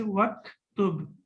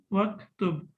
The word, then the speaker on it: waktub: So when we connect it with waw, then we will not pronounce it and we will say waktub, waktub.